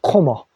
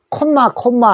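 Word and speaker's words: comma: 코머. 그래서 우리는 콤마 하는데, 그 콤마는 영어로는 코머, 우리 쉼표를 얘기합니다.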